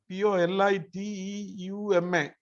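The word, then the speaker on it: πολίτευμα: ഗ്രീക്കിലെ പൊളിറ്റ്യൂമ POLITEUMA എന്നായിരിക്കും അതിന്റെ ഉച്ചാരണം.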